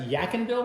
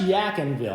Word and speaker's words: Yadkinville: at Hover Park Vineyard in and how's it pronounced yaken Ville yville it's pronounced yaken Ville I've been mispronouncing the name of this town